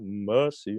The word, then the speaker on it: mercy: um oh lord have mercy on me leave the are out have mercy on me okay yeah not mercy mercy yeah and the other